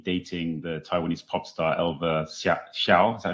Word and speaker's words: Elva Hsiao: I mean, in Billion Dollar Well, we wrote about how he had been dating the Taiwanese pop star Elva Hsiao.